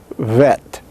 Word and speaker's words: vet: bilabial fricative and voiced when spoken it sounds like vet like v a vet but remember that it is not a v but a b fricative